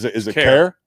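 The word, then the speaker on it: Kaire: So go ahead and how do you pronounce it? Is it Care? Care.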